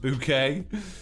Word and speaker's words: Bucket: epic room of brilliance bucket room pronounced bouquet creeper closet says james